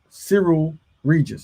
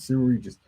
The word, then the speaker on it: Cyril Regis: It's Cyril Regis. Cyril, that's right, Cyril Regis.